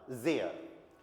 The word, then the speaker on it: sehr: एस का जय, ई का ए, एच साइलेंट, आर किसी वर्ड के एंड में आए तो अर।